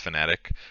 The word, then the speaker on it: Fnatic: to pick elephant fanatic it's spelled fanatic but it's fnatic quincy crew sg gaming